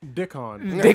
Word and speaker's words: Dickon: it's Rickon, right? He's like, no, it's Dickon. Dickon.